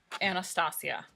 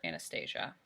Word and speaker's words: Anastasia: This one is a pomade, and this is in color blonde, and it is Anastasia or Anastasia. I've heard it pronounced both ways.